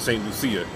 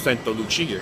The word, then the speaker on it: Santa Lucia: So, or we would pronounce it Saint Lucia, but it's Santa Lucia here.